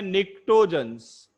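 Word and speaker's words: pnictogens: एक और नाम है निक्टोजेंस, पी साइलेंट होता है।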